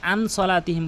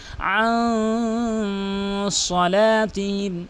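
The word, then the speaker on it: عن صلاتهم: ফাওয়াইনুল লিল মুসাল্লিন আল্লাযীনা হুম আন, এখানে মার্ক করে দেওয়ার কারণ হচ্ছে অধিকাংশ লোক আন সলাতিহিম বলে, আন সলাতিহিম কখনোই বলতে পারবেন না, বলতে হবে আন সলাতিহিম, আন সলাতিহিম সাহুন।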